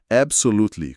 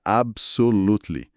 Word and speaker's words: Absolutely: Absolutely, com certeza. Pronúncia absolutely. Aqui o detalhamento é incrível. B curto, AB. S com som de S e final mudo.